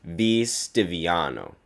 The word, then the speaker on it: V. Stiviano: 4 days earlier, TMZ had published voice recordings of the Clippers owner, Donald Sterling, making racist statements to his mistress, V. Stiviano. Yes, that's how you pronounce the name.